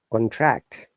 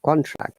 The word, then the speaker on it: contract: If it is a verb, we should stress on the second syllable, so protect, contract or contract, both are correct.